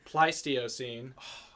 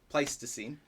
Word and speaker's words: Pleistocene: wrote down the pronunciation it's the pleistio scene so close oh pleistocene second mispronunciation of the night um but oh boy